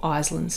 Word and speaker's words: Iselin: So in this location we call it Iselin's disease, or Iselin's disease as I'll be pronouncing it today.